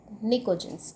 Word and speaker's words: pnicogens: Word मिलता हुआ निकोजेन, जिसे हम प्रोनाउंस करते हैं PNICOGENS, निकोजेंस।